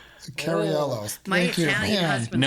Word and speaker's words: Cariello: to listen to our amazing guest uh Carrie Conuel. Is that right? I think I butchered that. I think I totally butchered that. Okay. I I am so sorry. Carello.